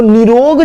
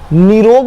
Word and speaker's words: निरोग: कहा जाए, निरोग, तो निरोग जो वर्ड है, न में छोटी की मात्रा, ये गलत है, निरोग में न में बड़ी की मात्रा होती है, निरोग। बोलते समय भी देखिए हम लोग बोल रहे हैं निरोग, मतलब न में बड़ी की मात्रा, मतलब ज्यादा समय दे रहे हैं, निरोग ऐसे बोल रहे हैं।